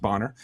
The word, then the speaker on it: Bonner: They say Boner a lot, but it's actually pronounced Bonner, and Martina, and they